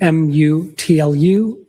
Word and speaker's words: Mutlu: Uh, last name M U TLU. I also spell it with a G.